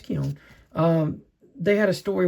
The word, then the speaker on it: Keown: and uh Dale Keown That's pronounced uh Keown. Yeah, it's Keown.